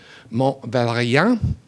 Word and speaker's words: Mont Valérien: And he settled on a site for that commemoration, a place called Mount Valérien. Mont Valérien, it's a tough one for an American palate to pronounce in French.